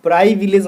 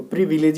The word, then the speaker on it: privilege: और प्राइविलेज मत को बोलना है, इसको प्रिविलेज ही होता है इसका सही उच्चारण।